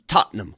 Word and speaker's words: Tottenham: First of all, let's get the proper pronunciation from somebody who's from there. It's Tottenham, correct?